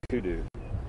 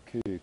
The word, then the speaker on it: kudu: This is a kudu. It's spelled K-U-D-U.